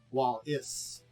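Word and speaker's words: Wallis: black markets Shadows uh it's spelled a little different but yes it's uh w-a-l-l-i-s while is uh uh you can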